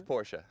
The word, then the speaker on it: Porsche: It's Porsche.